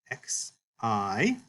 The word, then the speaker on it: xi: And the letter name is written this way, X-I, Xi. And it sounds like an X, as in the word axe. You could also think of this letter pronunciation like the two letters in English, K-S.